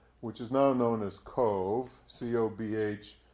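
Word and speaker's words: Cobh: is now known as cove c-o-b-h is pronounced as though it's c-o-v-e and it's from queenstown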